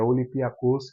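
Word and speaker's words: Olympiacos: saber a pronúncia eh nas minhas pesquisas é olipia kos que a pronúncia correta o Pedro Martins é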